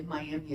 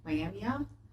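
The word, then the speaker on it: Myaamia: I'm awful pronunciation because it's not really Miami it's mamia miamia which means followers of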